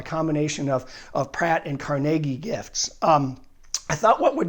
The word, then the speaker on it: Carnegie: gave his gift Andrew Carnegie and if you're from Pittsburgh you know it's Carnegie not Carnegie and I almost get my head chopped off my Pittsburgh relatives if I say it wrong but he gave he